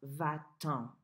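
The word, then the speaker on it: va-t'en: - tea ' e:n and that's pronounced vat tom vat Tom so let me back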